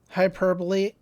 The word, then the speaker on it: hyperbolic: I mean, I'm being a little hyperbole, hy- hyperbolic. Hyperbolic, yes. Sure, because it's pronounced hyperbole, so I'm not sure how you do it with an IC at the end.